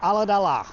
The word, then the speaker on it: Ulladulla: Good old Alladala. That's how you pronounce it.